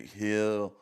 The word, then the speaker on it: Gil: rookie of the year heel uh um I always say heel but it's spelled G I L so Gil it was